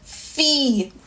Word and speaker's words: fi: I, it's a long E sound, so it's pronounced as E in Creole. Not I, but E. Not an I, like T, fee, which means a girl.